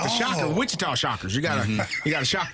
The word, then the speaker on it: Wichita: I mean, you got to shock your opponent when you like the Shocker, Wichita Shockers. You got to shock those guys. Oh, it's pronounced with cheetah.